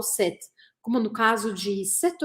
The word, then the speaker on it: cette: E a pronúncia é idêntica à do masculino set.